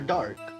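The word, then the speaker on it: Darke: first to run after Dark how the how the hell how do I say this name and it's it's just dark I think the E is silent yeah yeah I think so I I don't I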